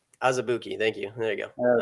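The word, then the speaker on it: Azubuike: Looks like it's pronounced Azabuki. Azubuki, thank you.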